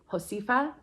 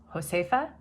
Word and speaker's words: Josefa: This is a designer from Mexico, and I believe the pronunciation would be something close to Josefa. Correction, I just wanted to jump on and say the pronunciation is Josefa.